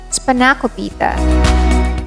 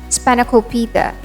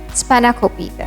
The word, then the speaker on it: Spanakopita: On first encounter, people would pronounce this as Spanakopita, but it's Spanakopita. We stress on the third syllable, Spanakopita.